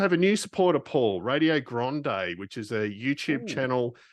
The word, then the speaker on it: Radio Grande: And so if you go to YouTube and just so it's radio and then GRANDE for those wondering what Grande, how it's spelt, given my broad Aussie accent, do check them out.